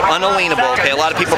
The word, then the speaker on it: unalienable: are all have unable and it's unable not inalienable unalienable okay a lot of people pronounce it inalienable but it's unable right to exist yes they